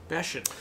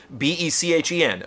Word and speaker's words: Bechen: I'm super stoked I know how to pronounce this correctly now. Tim Bechen. Bechen. B-E-C-H-E-N.